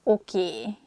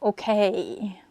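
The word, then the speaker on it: oké: This word comes from English. Probably it's easier for Hungarian speakers to pronounce it that way, so we just say a sound E at the end, so it sounds okay instead of okay.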